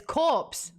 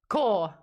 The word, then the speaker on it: corps: think he okay um Mitch says corpse core I in core damn it I just did it when I was younger I pronounced it as Corpse and not core LOL yeah that one